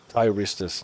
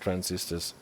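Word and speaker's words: thyristors: It is spelled with an T h Y. Tyristers, not transistors.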